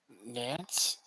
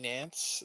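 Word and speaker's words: Nantes: looking at is french too okay what team nance fc nance is that how you say it in french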